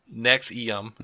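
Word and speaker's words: NXIVM: purported self-help programs within his umbrella organization nexum pronounced nexum okay yeah SP is based bullshitty yeah and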